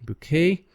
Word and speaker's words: bouquet: did not change finally there are some silent letters because they're they are words from french like buffet bouquet by the way the main stresses on on the last part all right now let's